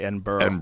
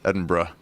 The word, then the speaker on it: Edinburgh: Don't say Edinburgh. They'll get mad. Edinburgh.